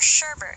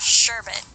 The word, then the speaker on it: sherbet: The same goes for words like espresso, which many pronounce it as espresso, or sherbet with an R, even though it's indeed pronounced sherbet.